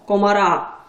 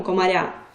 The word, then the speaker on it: комара: куди ж без винятків наприклад слово Комар змінюємо його комара наголос перейшов на закінчення але це все одно тверда група Ми ж не кажемо комаря комара твердо або слово долар у